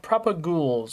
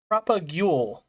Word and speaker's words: propagule: They're called propags. Or actually, you know what? I'm going to look it up because I might be saying it wrong. Apparently, uh apparently it's called propagule.